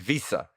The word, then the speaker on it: Wiese: to talk about david visa have i pronounced david visa correctly yes you have i've been trying to